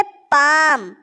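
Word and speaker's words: palm: पाम क्या है दोस्तों यह पाम इसमें एल साइलेंट होता है पाम इसको बोलते पाम हिंदी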